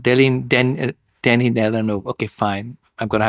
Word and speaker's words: Denis Villeneuve: Oh my God, I can't pronounce his name at all. Villeneuve. Denis Villeneuve.